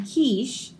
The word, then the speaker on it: quiche: We can enjoy quinoa and quiche by the quays of Qatar. So these all make a hard K sound.